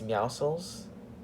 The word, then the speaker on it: Meowscles: Meowscles, whoever pronounces it Meowscles is a complete and utter idiot. It's Meowscles. It's a pun on muscles, obviously.